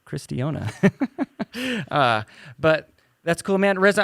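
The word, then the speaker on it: Cairistiona: c-a-i-r-i-s-t-i-o-n-a and uh all the time she gets carristonia uh that's the way i would pronounce it if i read it carastonia yeah so all kinds of good stuff and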